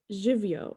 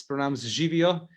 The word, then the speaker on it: živijo: I'm sure I'm not pronouncing it 100% correct, but it is hello, and it's živijo.